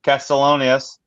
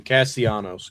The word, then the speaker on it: Castellanos: They lost Bryce's boy Castellanos. Who you loved him. Not how you say his name. Castellanos.